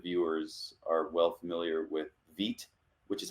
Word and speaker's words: Vite: and tons of viewers are well familiar with vit which is how you pronounce it's spelled Vite for you know that